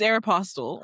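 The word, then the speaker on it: Aéropostale: It's Aerapostel.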